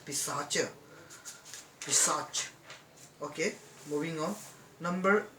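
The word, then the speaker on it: Paishacha: and sacha this can it is actually pronounced in hindi as pisacha research okay moving on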